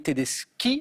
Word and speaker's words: Tedeschi: Et Valérie me donne Valeria Bruni Tedeschi. Alors c'est K, mais ça s'écrit CH.